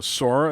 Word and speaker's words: Sora: smash and people absolutely lost their mind so sora is that how you pronounce it yeah that's the main main character